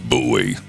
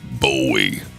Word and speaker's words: Bowie: And for those who aren't from North Texas, yes, we pronounce it buoy, not buoy.